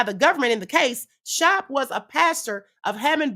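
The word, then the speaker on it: Schaap: Pastor Jack Schnop or Shop or I think I'm saying it right, Shop.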